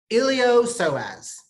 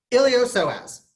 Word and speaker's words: iliopsoas: mad about this one iliopsoas I know there's a P in there the P is silent don't ask me why die mad about it elio so has the iliopsoas is two muscles two